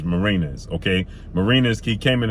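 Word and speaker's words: Mariñez: lost that fight uh i keep calling the martinez but it's marinas okay marina's he came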